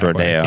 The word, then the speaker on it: Rodeo: After the original Rodeo de las Aguas. Right. So that's why it's pronounced Rodeo. Yeah. Okay. That's good to know. It still maintains that Spanish flair, even though it's the same word that we say in English.